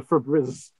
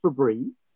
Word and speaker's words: Febreze: is the right answer so what about the fabriz it's breeze it's pronounced febreze they have a window with breeze coming through